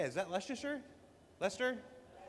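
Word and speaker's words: Leicester: Uh, straight out of Klesher back to the hex photos from Leasher. How do you say? Is that Leasher? Lester.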